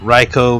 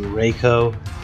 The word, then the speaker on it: Reiko: REO as a character I hate raicho because I can't say his name right it's technically Reiko uh what else I